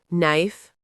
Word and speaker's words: knife: K in no, knife, and knee are all silent. So it's just no, knife, and knee. Not knife, but knife. Pronounced knife, but spelled with a K.